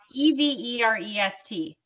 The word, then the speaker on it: Everest: to say it wrong e-v-e-r-e-s-t how would you say it everest forever okay like the mountain i'll say becky and